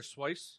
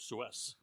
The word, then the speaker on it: Seuss: Swice. Dr. Swice. It's actually really how you say it. I read somewhere that I was always under the impression it was Suez.